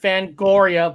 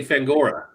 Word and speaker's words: Fangoria: get that off okay here we go they spell it f-a-n-g-o-r-i-a oh it's the way you pronounce it fangoria